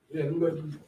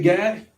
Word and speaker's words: Gad: So when we say Gad, just know it's pronounced God.